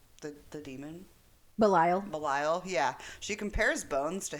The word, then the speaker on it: Belial: She compares Bones to Belial. Is that how you say his name? The demon? Belial, yeah.